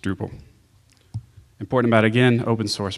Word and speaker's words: Drupal: of connecting people and they spelled drop instead so now we have dropped that's pronounced Drupal important about again open